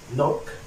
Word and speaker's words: knock: مثلا زي كلمة knock، knock، knock.